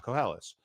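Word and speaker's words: קהלת: yes, But Kohelet. I use the Hebrew word, which Yeah. is koheles, right?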